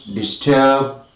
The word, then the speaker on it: disturb: The most important syllable is of course the second one. We say disarm, disband, discuss, disdain, dismay, disturb, disgrace, and disguise. So also we say distract.